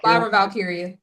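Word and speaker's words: Lyra Valkyria: Via Lara Valkyia.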